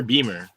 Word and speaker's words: Beamer: Is it Bimmer or Beamer? It just depends. I mean, like, technically it's Beamer. That's how you like pronounce. It'd be like pronounced like that.